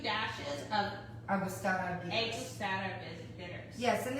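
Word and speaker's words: Angostura: Agustata.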